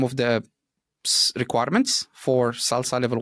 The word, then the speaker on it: SLSA: framework called Salsa so salsa dodev which stands for um security level Z of software Architects um it's written slsa but it's pronounced salsa so salsa what it